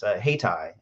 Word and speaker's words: Haytii: Hightower mentioned, is HeyTie. It's spelled Haytii.